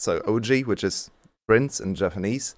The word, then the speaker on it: Ouzi: So the way we can see it, and that's why we just read the name and pronounced him Uzi or Uzi. But he then later clarified that his name is actually the Japanese word for prince, which is usually actually written in Latin alphabet with OU or OOJY, because it's pronounced OG.